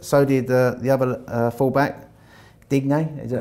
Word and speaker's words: Digne: So did the other full-back, Digne, is that how you say it? Digne, yeah.